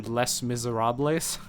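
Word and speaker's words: Les Misérables: but the name of the mod was actually Les Miserables. That was the way they told you to pronounce it. Because their idea was to make the mod less miserable. And one of the things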